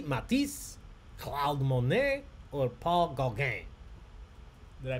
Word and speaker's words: Gauguin: Gauguin.